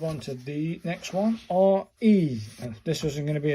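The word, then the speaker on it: れ: R-E. This wasn't going to be a complicated number. R-E, pronounced like the R-E in rent.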